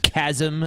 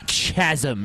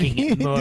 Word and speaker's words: chasm: didn't probably expect it it is pronounced chasm schedule whatever tji chasm not chasm you said chasm I might have whatever